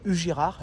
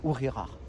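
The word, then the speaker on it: Ugíjar: Dans toutes les vidéos, je me trompe, je me dis Ugirar et en fait, ça se prononce Ourirar.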